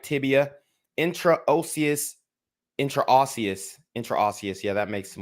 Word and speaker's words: intraosseous: is tripping me up let's see how to pronounce this intra OCS intraocious okay that's good intraocious catheter with attached tubing right tibia intraocious intraosseous intraosseous yeah that makes some more sense intraosseous